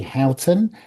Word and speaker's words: Houghton: And I'm very pleased to introduce Cathy Houghton, health and movement coach. Have I pronounced your surname correctly, Cathy?